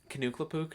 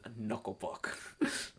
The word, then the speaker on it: Knuckle Puck: Is that how they pronounce it? Kanuklapook? No, if you're Knuckle Puck.